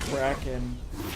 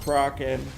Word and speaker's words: Kraken: You'd think that she would know that, you know, it was pronounced Kraken, like hanging out with all this Newegg nerd.